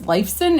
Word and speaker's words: Lifeson: of Fame in 2013 alongside his bandmates, Alex Lifeson, is that how you say it?